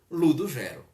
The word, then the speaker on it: Ludugero: Como era um personagem matuto, então ele estendeu um pouco mais essa pronúncia do U depois do G, aliás, depois do D, e ficou Ludogero, tá certo?